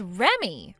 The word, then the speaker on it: Reme: Do you read that as Reme or do you read that as Remy? Huh? You're supposed to read that as Remy. Remy. So your name is Remy? It's spelled Reme, but you read it like Remy.